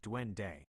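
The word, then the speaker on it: duende: Dwende is a fascinating Spanish word with a rich and complex meaning and it's pronounced dwende.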